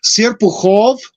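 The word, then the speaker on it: Серпухов: The problem is Serpukhov is the way it's pronounced, but it's written Serpukhov in English.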